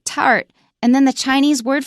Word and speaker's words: 塔: There was never an impulse for me wanting to talk about them. So now you know how to say it. So egg plus third tone ta, and you've got it.